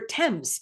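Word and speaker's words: Thames: And apparently they're in the River Temps is how you pronounce that in London.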